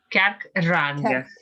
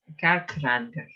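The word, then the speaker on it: cearc Fhrangach: Kerkranga. Kerkranga. You don't pronounce FH because it becomes silent.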